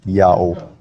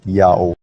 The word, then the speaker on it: IAHO: Now the Latin letter H at the time of Jerome is an H sound if it's the first letter of a word, but if it's not, it's a silent letter. And Latin adopted that rule from ancient Hebrew, so IAHO is read clearly as Yao.